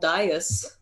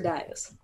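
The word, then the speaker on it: dais: and there's an octagonal Dyess in some murky water it's pronounced Deus or dies I always heard it pronounced Dyess yeah I print I've heard it both ways anyway it's an octagonal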